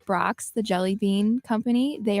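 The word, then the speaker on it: Brach's: said Brock's. Is I pronouncing that right? And I said no, it's Brachas.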